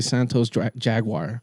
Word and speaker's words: Santos Jaguar: I was about to say Santos Jaguar.